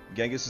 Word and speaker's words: Genghis: Genghis is the Western way, which is an accepted pronunciation.